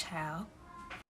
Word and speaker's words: Chile: The correct pronunciation is child on this app.